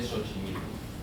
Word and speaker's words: Xochimilco: En el caso de Xochimilco, en el que la pronunciación pasa directamente a la S.